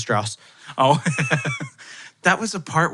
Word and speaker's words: Strauss: says it in the movie he's like it's pronounced Strauss oh that was the part where I was